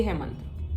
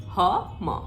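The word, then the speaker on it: हं: Pronunciation है वो देखो, इट्स नॉट हम, इट्स हम, ऐसे जा रहा है ये, ठीक है, जैसे बेल बजती है ना एक, जैसे रूट चक्र का था लम, उसी तरह हम।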